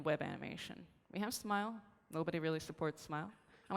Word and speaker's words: SMIL: can remember it as smile pronounced like that like the facial expression another animation format from